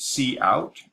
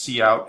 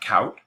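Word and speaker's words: cout: is the output statement C out and is pronounced C out and not count so C out and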